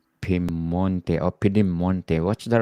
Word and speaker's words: Piemonte: Today we're going to talk about Piemonte. Piemonte or Piedemonte. What's the right Piem- pronunciation, Shafi?